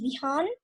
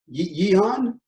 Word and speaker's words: Vihan: Actually, my name is Vihan. Yehan? Vihan. Okay, Vihan.